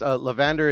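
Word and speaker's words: Leavander: I heard Evander. Like it's not spelled like that. It's Levander. It's LEVEDAR, I believe.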